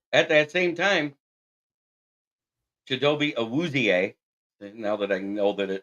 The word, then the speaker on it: Awuzie: Obi Awurie of the Bengals. Awuzie. Awuzie. There's a Z in there. Somebody told me it was an R, but okay.